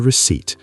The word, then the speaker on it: receipt: And the receipt, r e c e i p. The p is silent.